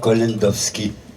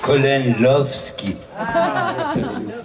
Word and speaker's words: Kolendowski: s'appelle collendowowski répétez après moi koh-lantovski moi je prononce colon love ski c'est pas si compliqué voilà je suis branché